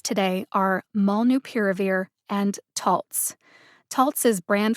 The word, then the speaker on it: molnupiravir: schwa vowel uh and the last syllable is veer like a drunk driver veers left of center mall new piravir malnu piravir put the primary emphasis on the syllable pier